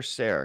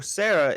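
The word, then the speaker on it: Serra: That's where Sarah comes in. Or it said Sarah, but it's spelled like Sierra or something. And there's no I guess anyway. It's like Sierra without the I.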